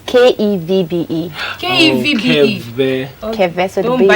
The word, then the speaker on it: Kevbe: Yeah, that's for some people, but mine is Kevbe.